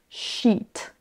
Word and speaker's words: sheet: Donc attention, quand on a deux E, c'est vraiment un I long. Sheet, sheet.